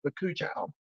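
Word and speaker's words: bakuchiol: I think it's pronounced bakuchal, bakuchal, yuzu, and hyaluronic acid. Hyaluronic acid, bakuchal, I think that's the way you say it, and yuzu.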